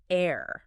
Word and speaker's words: heir: The H is completely silent. It sounds exactly like the word air, A-I-R, the stuff we breathe, fresh air.